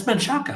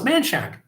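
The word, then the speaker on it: Manchac: And I said, "Well, how do you spell this?" And she says, "Man C A." And I said, "That's manaka." And she goes, "No, it's Manshack." I'm like, "Okay, all right.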